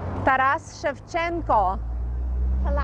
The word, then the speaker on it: Taras Shevchenko: How to pronounce it? Taras Shevchenko.